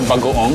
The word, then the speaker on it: bagoong: We call it bagoong, that's how you say it.